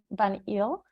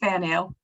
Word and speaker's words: Van Ael: And there is Miss Leslie Van Eel. I'm pretty sure I didn't pronounce it. It's perfect. Yeah, it's perfect. Van Eel.